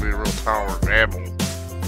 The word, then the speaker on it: Babel: It's going to be a real tower of Babel. I said Babel, not Babel.